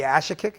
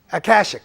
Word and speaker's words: Akashic: We're going to go to the Ashikik. Is that how you say it? Akashic, yeah, I like the Akashic.